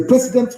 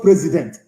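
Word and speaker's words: precedent: It is a president law. President, not president, president law. P R E C E D E N T.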